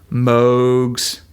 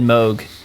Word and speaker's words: Moog: Uh but you know like most two oscillator synths like so think like Jupiters, Moogs, um Oberheims, and like plugins or other hardware